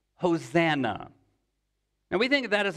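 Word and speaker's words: Hosanna: the the word save us would have been pronounced hosana and we think that is a term of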